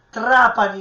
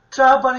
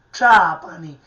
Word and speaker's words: Trapani: Quindi TR Trapani, in siciliano Trapani, anche questo è un suono cacuminale.